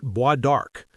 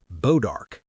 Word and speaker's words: bois d'arc: The French had given this tree a name. They called it bois d'arc, wood of the bow. American settlers would mangle the pronunciation into something simpler, bodark.